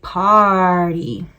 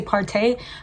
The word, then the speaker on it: Party: This is in the shade Party. A lot of people say Partay, but it's like spelled like Party.